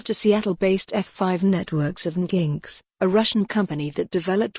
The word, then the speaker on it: Nginx: Both men now work for F5 Networks, which purchased Nginx, pronounced Nginx, in May.